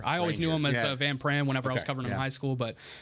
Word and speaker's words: Van Pran: Van Pran?